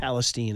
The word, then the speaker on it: Palestine: But trust me, I wasn't in East Palestine. Yeah, I think careful. it's Palestine is how you pronounce it.